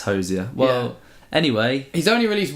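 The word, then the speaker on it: Hozier: I think I watched an interview and he did confirm it was Hosier. It's Hosier.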